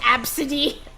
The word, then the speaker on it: ABCDE: that oh that one girl named ABCDE e pronounced absidy oh uh but I